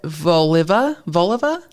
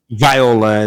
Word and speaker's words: Viola: We have another tragedy, and this time from 24-year-old Claudette Volova. It's Viola. It's spelled wrong.